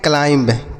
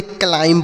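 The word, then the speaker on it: climb: इसे हम पढ़ते हैं क्लाइंब क्या पढ़ते हैं क्लाइंब इसे नहीं पढ़ेंगे क्लाइम पढ़ेंगे क्या पढ़ेंगे क्लाइम यहां पर जो बच्चों बी लिखा है ना यह साइलेंट है क्या है साइलेंट इसे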